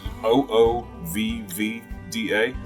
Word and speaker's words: OOVVDA: north of Springfield Missouri it's oh oh vivi da is correct yes and I asked him that stood for something and it doesn't it is a phonetic pronunciation of a Viking word that I forgot what